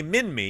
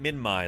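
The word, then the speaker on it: Minmi: the Museum but uh some say Min me yeah and I've always said Min me since I was a kid I'm gonna start calling it Min Mai though because that's what the locals call it you know um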